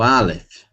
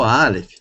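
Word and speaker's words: אלף: Bom, eu vou utilizar aqui o Aleph, porque o Aleph, ele não tem som, ele é mudo.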